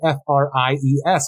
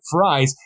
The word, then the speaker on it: Fries: talking to Mr Freeze whose actual name is spelled f-r-i-e-s like fries and keeps saying fries like that's what that's